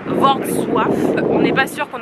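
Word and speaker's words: Wrocław: s'est un peu renseigné la vraie prononciation c'est V SWIF on n'est pas sûr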